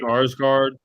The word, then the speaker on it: Skarsgård: Skarsgård.